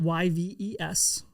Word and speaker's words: Yves: Uh you spell it Y vees. There is the S is silent.